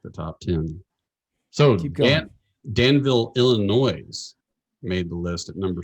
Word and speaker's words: Illinois: top ten so danville illinois made the list at number seven st louis was six you're so texan you don't say the s in illinois no i do just